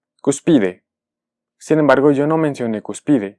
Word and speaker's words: cúspide: marcamos el acento gráfico al ver que esta palabra termina en vocal lo que una espera es que sea pronunciada como una palabra grave es decir su pronunciación sería cúspide cúspide sin embargo yo no